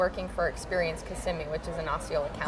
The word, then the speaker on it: Kissimmee: not everybody's from Florida and it's Kissimmee can you lean over and kiss me okay it's not kissing me oh me oh it's